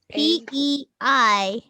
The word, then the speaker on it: peignoir: It's PEIGNOIR. Oh no. Oh no. Oh, PEIGN? E-N. PEIG as in go, NOIR. P-E what? P-E-N. PEIGNOIR. G, like G is in go.